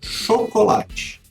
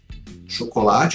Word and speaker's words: chocolate: A palavra chocolate. Chocolate é uma palavra paroxítona em português, ou seja, a penúltima sílaba é a mais forte.